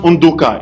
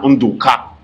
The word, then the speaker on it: Undoka: And I can tell you that my name is Undoka. In fact, it's pronounced Undoka in my own dialect. But when you go to the Igbos, they say na Undoka.